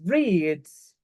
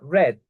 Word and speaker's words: read: Pero en pasado va a sonar red, casi como rojo, el color rojo, red.